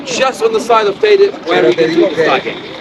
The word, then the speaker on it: Teide: Teide, Mount Teide is the pronunciation.